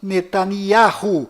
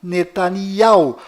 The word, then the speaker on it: Netanyahu: Bom, voltando ao assunto, fora de Israel, o nome deste primeiro-ministro é pronunciado Benjamin Netanyahu, mas dentro de Israel, o nome dele é pronunciado Benjamin Netanyahu.